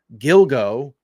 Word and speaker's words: Gilgo: show so as I was saying here suspected Gilgo I said it right this time Beach killer